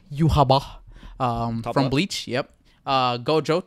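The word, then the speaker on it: Yhwach: how to say his name correctly it's called Yaba from Bleach yep uh Gojo top right from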